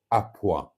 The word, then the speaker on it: à point: that matters when it comes to beef is à point. À point. Point is spelled point, pronounced point.